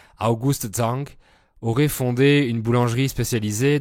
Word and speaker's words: August Zang: La première théorie est celle qu'un homme politique autrichien, August Zang, j'ai fait un peu d'allemand, donc je prononce à l'allemande, August Zang, aurait fondé une boulangerie spécialisée dans les pains viennois à Paris en 1839.